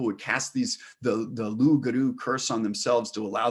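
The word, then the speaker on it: loup-garou: them was this voracious cursed creature called the lugaru which is spelled loop guru and is this creature that's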